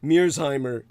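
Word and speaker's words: Mearsheimer: like the political scientist john metersheimer pronounced mirzheimer when anglicized your arguments are being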